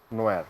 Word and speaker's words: NIOR: বানানটা ছিল NIOR, so normally যেটা হয় নিওর, বাট নিওর। ওটার উচ্চারণ ছিল নোয়া। নোয়ার, ঠিক আছে, নোয়ার, রাইট।